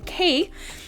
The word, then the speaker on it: Munch: So, the 81-year-old Edvard Munch, pronounced Munch, so Moohnk, was the founder of the Expressionist school of painting.